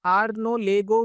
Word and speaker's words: Arnaud Legoux: तो ये भी दोस्तों मुझे थोड़ा टाइम लगा जब वीडियो में बना रहा था कि प्रोनाउंसिएशन कैसे करूं। तो राइट है आर्नो लेगो मूविंग एवरेजेस।